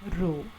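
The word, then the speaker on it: ρ: this is denoted by letter p pronounced as rho and this is the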